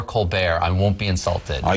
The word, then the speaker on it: Colbert: a fake person, but my father really wanted to be Colbert. But his father didn't understand. He thought it was insulting that his son would want to go by a different pronunciation. So I'm one of 11 kids. And my father said to us, you make up your mind. You can be Colbert or Colbert.